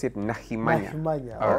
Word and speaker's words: Nahimanya: Nahimanya is a very We pronounce it Nahimanya.